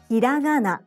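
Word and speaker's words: ひらがな: Hiragana, hiragana, hiragana, hiragana, low, high, high, low.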